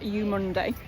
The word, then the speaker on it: Eumundi: cake we've come to you Munday Market apparently it's pronounced you Monday hey and it's the